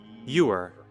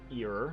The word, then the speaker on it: ewer: Ewer. Ewer, not ear.